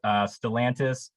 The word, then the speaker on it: Stellantis: I have a question about, and correct my pronunciation if it's wrong, Stellantis. Is that your job now? Yes, that's pronounced correctly, which, speaking of pronunciation, just want to make a quick clarification.